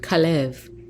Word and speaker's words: Caleb: We see from this entry from Wikipedia that Caleb, sometimes transliterated with a K, has the Hebrew pronunciation of Kalev.